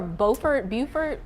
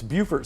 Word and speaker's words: Beaufort: There's one more, Beaufort. So it's Beaufort, South Carolina. Yeah, and then Beaufort, North North Carolina.